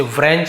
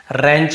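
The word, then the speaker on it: wrench: फिर क्या है आपका रेंच, यहां पर भी आप देखिए, इसे व्रेंच नहीं पढ़ रहे, हम इसे क्या पढ़ रहे हैं, यहां पे रेंच पढ़ रहे हैं।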